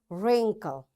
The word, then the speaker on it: wrinkle: Wrist, wrestling, wrong, ran, wrinkle, rack, wrap, wrench. You see, in all these words, because W is followed, after W there is R, so we don't pronounce this W.